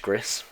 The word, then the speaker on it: Gris: was told by Emma I'm sure that it's pronounced Gris I feel like she'd know she's just typed